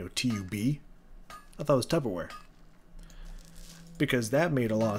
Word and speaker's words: Tupperware: middle part in there the middle part in there is never really super pronounced right it's kind of like tupperware you know it's kind of like it's very soft you don't you don't say tough per wear you know he's tupperware you know and so for